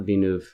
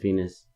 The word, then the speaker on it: Venus: Venus. Not Venuv, but Venus. And I'm going to go with this one because it has like a lot of views.